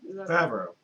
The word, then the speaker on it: Favreau: They brought the same guy who did the Jungle Book named Jon Favreau, I think is how you say that, I'm guessing. Josh, do you know? Favreau.